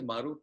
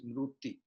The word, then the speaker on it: Maruti: Skate, and so skate, and by the way, Maruti is Mruti.